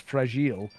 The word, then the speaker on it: fragile: Her catchphrase is, which I will, I don't know, make less sense if you don't know that the word fragile, when said in French, is pronounced fragile.